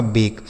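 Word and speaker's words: bake: अब इस ए का उच्चारण ए की मात्रा और के से क हो गया और इस इ का उच्चारण नहीं करेंगे। यह लिखा आपका बेक। किसी भी शब्द के लास्ट में इ लिखा होता है तो उसे नहीं पढ़ा जाता है।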